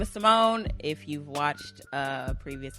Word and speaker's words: Simoné: with another episode with c monet that's not how you pronounce it but give it to somebody my name is simone if you've watched a